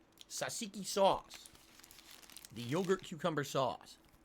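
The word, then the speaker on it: tzatziki: no surprise that you like this food it's pronounced sasiki sasiki sauce the yogurt cucumber sauce um oh that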